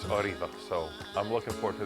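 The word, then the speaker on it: Órgiva: oriva that's o r G IA some people pronounce it oiva but it's oriva so I'm looking forward to this trip meaning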